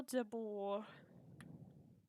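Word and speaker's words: Debord: good go to hotel Deborah it's French so you don't pronounce the d because French is a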